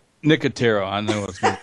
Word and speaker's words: Nicotero: Am I going to mispronounce his name again? Nicoletto? Nicotero.